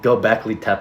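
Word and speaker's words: Göbekli Tepe: Gobekli Tepe.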